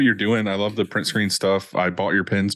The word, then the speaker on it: PRNT SCRN: It's print screen. Yeah, it's kind of like the key on a keyboard.